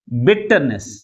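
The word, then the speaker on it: bitterness: దీన్ని ఎలా ఆర్టికులైజ్ చేస్తాం బిట్టర్నెస్ బిట్టర్నెస్ ఏ సిలబల్ ఎక్కువ ఫోర్స్ గా పలుకుతుంది ఫస్ట్ సిలబలే మిగిలిన సిలబస్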